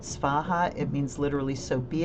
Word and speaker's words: Svaha: Soha is the Tibetan pronunciation of the Sanskrit Svaha.